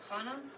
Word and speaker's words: Hannah: was a woman and she rhymes with Dena oh Hana yes that's okay so